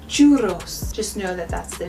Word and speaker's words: churros: At times in Spanish there will be two R's in a word and then you want to have a longer rolling. So if you roll your R too long, you're going to be saying it incorrectly. Buenos tardes. It's a one R, so it's a short roll. For a longer roll, churros. Churros, you would say in